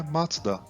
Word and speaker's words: Mazda: A pronúncia em japonês é Matsuda, que é o sobrenome do fundador, Matsuda Jujiro.